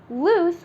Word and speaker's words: loose: focus on the pronunciation loose with two o's is pronounced with the sound S at the end and L with one